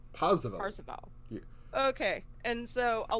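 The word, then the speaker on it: Parseval: I can't remember how to pronounce that. Percival? Parzival.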